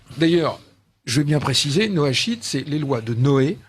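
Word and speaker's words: noachide: totalement inconnu oui d'ailleurs je vais bien préciser Noa sheet c'est les lois de Noé et dont les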